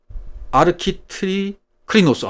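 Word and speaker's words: ἀρχιτρίκλινος: 아르키트 클리노스 그랬어요. 아르키트리 클리노스. 다른 발음이 어렵습니다.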